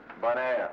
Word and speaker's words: Bonaire: Bonaire. You know, bon, good, air, Bonaire.